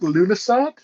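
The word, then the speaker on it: Lughnasadh: I can never pronounce this one. Yeah. Lughnassadh. I think Lunasat, August but I 1st.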